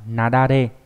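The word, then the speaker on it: 雪崩: Ví dụ trong từ chữ tuyết và chữ băng đọc là nadare. Nadare là tuyết băng nghĩa là tuyết lở.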